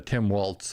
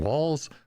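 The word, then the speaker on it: Walz: that are going on I'm probably pronouncing that wrong there's no T there so how do you pronounce his name walls Waltz walls I don't know Tim Walls uh and yeah so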